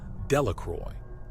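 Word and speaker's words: Delacroix: Jones and Dicky delaqua the villagers pronounced this name delacroy eventually made a great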